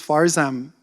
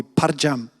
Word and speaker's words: Farzam: say my name properly my name is faram many Koreans can't pronounce f and Zed so he would call me param it was weird he